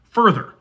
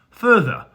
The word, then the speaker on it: further: as the second vowel further ER but if you're British you probably pronounce the two vowels differently further now that second sound